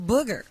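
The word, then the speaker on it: Bougher: I think his name is Booger because his last name is B O U G H E R.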